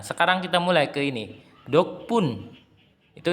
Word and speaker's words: 덕분: Dokpun, itu dibacanya dokpun, yang artinya berkat atau dukungan.